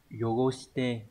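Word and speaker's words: 汚して: Sẽ đọc là yogoshite.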